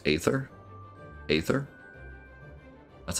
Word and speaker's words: Aether: I mean sounds like 11's thing how' you pronounce a ather Aether that's how they pronounced it in the cut